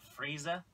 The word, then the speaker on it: Frieza: frza I like the stage the music It's pronounced Frieza friezer Frieza Lord freezer Lord Freez freezer Lord freezer